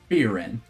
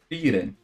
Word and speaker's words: Frieren: Like I said, all I know is a fantasy adventure, and I know how the protagonist looks, so I can identify her, Frieren.